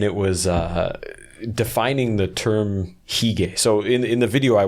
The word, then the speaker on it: hygge: Are you familiar with the Danish term hygge? I think it's spelled Hygge.